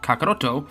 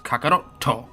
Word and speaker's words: Kakarotto: That symbol doesn't actually make a sound in and of itself. It instead tells the reader to reset their vocal cords when pronouncing the next syllable. Kakarotto versus kakaroto. It's called a glottle stop and is fairly prevalent in Japanese writing.